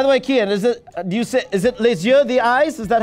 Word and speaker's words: les yeux: By the way, Kian, is it les yeux, the eyes?